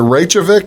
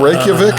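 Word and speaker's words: Reykjavík: They pronounce it Reykjavik, not Reykjavik.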